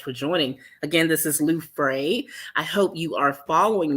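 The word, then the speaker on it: Luefras: is it french no it's not french the s is silent um i tell people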